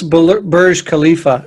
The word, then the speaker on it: Burj Khalifa: So I think it's Burj Khalifa is how you pronounce it, but I'm not 100% what it is.